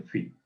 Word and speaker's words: phi: El número áureo o número phi se pronuncia phi y así se pone con PHI.